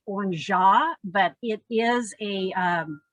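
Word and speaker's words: orgeat: add trader vic's and this is pronounced on jaw but it is a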